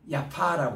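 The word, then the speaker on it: יפו: 우리 따라합시다 자파 자파 이거를 본래는 야파 그래요 야파 파인데 이 스타인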